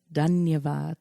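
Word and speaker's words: धन्यवाद: Dhanyavad. Dhanyavad. Dhanyavad. I remember when I was in India, but it's been so long now, over right. 10 years. Dhanyavad.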